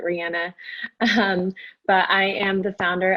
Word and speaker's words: Rihanna: My elevator pitch is Riana like the singer, but I think she actually pronounces it Rihanna.